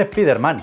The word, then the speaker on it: Spider-Man: Se dice Spider-Man, con acento en la A.